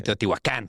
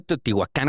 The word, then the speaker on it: Teotihuacán: Porque está castellanizado. Ok. En el náhuatl no existen las palabras agudas. Ujú. Por eso es como Tenochtitlán, Teotihuacán. Pero en el náhuatl, en verdad, son casi todas graves.